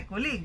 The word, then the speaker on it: colleague: So you see, we don't say colleague, meet my colleague, but you say colleague.